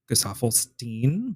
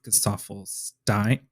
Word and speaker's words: Gesaffelstein: Cal actually taught me how to say his name correctly because I've been saying Gesaffelstein, but it's Gesaffelstein.